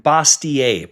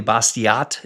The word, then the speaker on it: Bastiat: Frederick Bastiat, probably Bastiat is how a lot of people pronounce it. He's French. It was probably Bastiat.